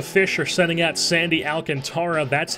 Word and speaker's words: Alcantara: Giants as the fish are sending out sandy Alcantara that's how it's pronounced even I know that I don't get